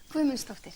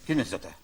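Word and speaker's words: Guðmundsdóttir: Gudmundsdóttir, yeah. Gudmundsdóttir.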